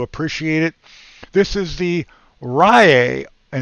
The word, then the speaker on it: Riiai: This is the Riiai, and it's spelled R-I-I-A-I, 11,000 milliamp hour mini spot welder with 80 gears.